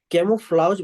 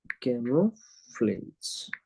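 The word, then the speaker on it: camouflage: इसी को बोलते हैं कैमोफ्लाउज, बोलते हैं एक्चुअली इस प्रोसेस को, क्या बोलते हैं? कैमोफ्लाउज। ठीक ना? कैमोफ्लाउज, एक मिनट रुको, इसका अच्छे से थोड़ा प्रोनाउंसिएशन देख ले। कैमोफ्लेज, इसका हिंदी बहुत अच्छा है, छलावरन।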